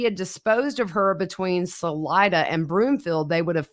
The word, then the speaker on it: Salida: episodes of this case we have been pronouncing Salida wrong yeah we've been saying Salita well sorry y'all uh